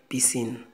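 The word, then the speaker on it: piscines: Uma piscina, une piscine, umas piscinas de piscine. A gente não pronuncia o S, não.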